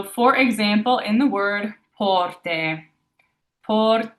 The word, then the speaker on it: porte: So, for example, in the word porte, porte, that AY at the end of the word there is that E.